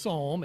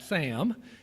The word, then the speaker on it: Psalm: apparently now is A, pronounced Psalm and not Sam, and B, called a hymn sing instead.